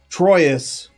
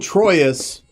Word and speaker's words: Troyes: Anyway, old Troyes dice. This, by the way, is pronounced something like trois, right?